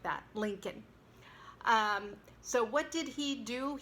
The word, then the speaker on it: Lincoln: First of all, it's one of those words that does not pronounce the L in the final syllable, so it's like kn, and the stress goes on link, so it's Abraham Lincoln.